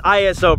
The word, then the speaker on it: ISO: Some people say ISO, ISO, it's ISO, bro.